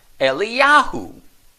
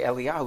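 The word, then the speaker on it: אליהו: but it's significant that both are pronounced the same in Hebrew eliyahu okay so in Hebrew if we were to say eliahu is the same and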